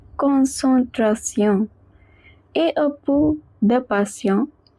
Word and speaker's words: concentration: En is always pronounced as on. Tion is pronounced as sion. So we get concentration.